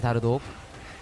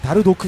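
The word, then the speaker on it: Dardoch: 예, 역시 다르독. 여러분 발음 때문에 오해하시면 아닙니다. 다르도크 선수입니다. 네.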